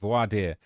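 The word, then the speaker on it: voir dire: uh pronounced vo vo vad vard that's how it's pronounced voad um so voardier and it means all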